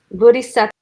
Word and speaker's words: Bodhisattva: Bodhisattva. How do you say that? Bodhisattva.